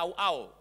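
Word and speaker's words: רעה: Gembala sini dari satu kata Ibrani ra'a, bacanya rau'au fonetiknya. Tapi tulisannya ra'a, itu punya beberapa pengertian.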